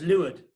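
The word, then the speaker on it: leeward: boat and Luud vote it's actually pronounced lured which is a bit weird and I won't go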